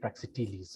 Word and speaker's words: Praxiteles: Praxiteles, however. it's Oh.